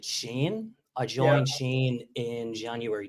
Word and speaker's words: Shein: I mean, so it's Shein. I'm still guilty of calling it Shein.